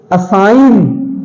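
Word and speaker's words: assign: silent है लिखा गया है नोम है जी साइलेंट है नोम असाइन असाइन नहीं तो असाइन नहीं है जी साइलेंट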